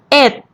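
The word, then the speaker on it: เอ็ด: have to remember is when number one is the last digit of any numbers it is pronounced it instead of noon so 11 is sip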